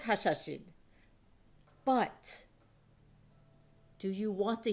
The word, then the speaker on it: Hashashin: Yes, the original pronunciation was Hashashin.